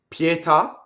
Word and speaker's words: pietà: right wheeling around EW pietà so here's a truncated word so the allottee accent the accent has no bearing on the pronunciation of the odd doesn't change it at all as it would do